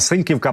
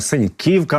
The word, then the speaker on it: Синьківка: ось власне теж тут Я наплута трішки сказав синьківка Правильно синьківка наголос на їм в цьому районі з